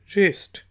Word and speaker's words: wrist: इसके बाद वर्ड है WRIST, रिस्ट। W साइलेंट है तो ये होगा रिस्ट, कलाई।